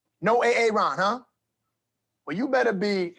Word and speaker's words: Aaron: you say it the first time i said a-a-ron because it's pronounced aaron good morning welcome back here cbs